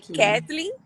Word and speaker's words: Katlyn: WhatsApp Ketlin né Exatamente meu nome na verdade é Katlyn pronuncia-se Ketlin e aqui em Portugal